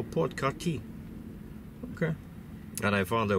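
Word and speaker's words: Port-Cartier: Kati Port Kati and it's written like Cartier, you know, like the jeweler store. And I asked this guy, I said, "How do you pronounce it?" He says, "So, Port Karti."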